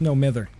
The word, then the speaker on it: No Mither: It's no mither. No mither! That is how you pronounce it.